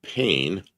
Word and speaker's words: pain: So pain. It's French for bread. The N is silent.